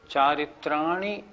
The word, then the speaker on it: चारित्राणि: कुछ लोग कैसे बोलते हैं, सम्यक दर्शन ज्ञान चारित्राणी मोक्ष मार्ग, ये गलत हो गया।